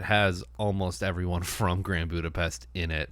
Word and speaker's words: Budapest: It's pronounced Budapest.